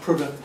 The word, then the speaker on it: Prudhoe: In which English county are the castles at Prudhoe, Dunstable, Matt Laycock? Oh, two in a row, going for the hat trick. Prudhoe. It's pronounced Prudhoe.